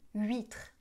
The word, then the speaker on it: huître: OK, alors les H des mots huile, huître et huit ne se prononcent pas.